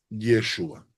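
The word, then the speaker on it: ישועה: Salvador yeshua entonces Salvador salvación en hebreo se pronuncia yeshua ahora De dónde viene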